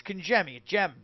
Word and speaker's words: Congemi: name yeah I know out west they like they call me and I kind of dig that you know you know it's Ki gem like gem g GM